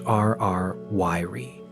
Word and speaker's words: RR Lyrae: In 2016, for the very first time, a specific type of extremely ancient variable star known as an RR Lay, pronounced RR Yiri, star was successfully discovered right in the core of the Milky Way.